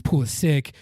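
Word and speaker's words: Pulisic: you know later on his it's pool is sick but it's just out of habit and I noticed it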